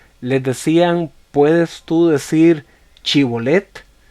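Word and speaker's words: shibboleth: Y la prueba consistía en que lo ponían a pronunciar una palabra. Les decían: ¿puedes tú decir Chibolet? Y si la persona respondía diciendo Sibolet, significaba que lo había pronunciado mal y que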